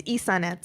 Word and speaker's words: Ysanet: So we are back with Ysanet. Or I'm not pronouncing that. It's Ysanet.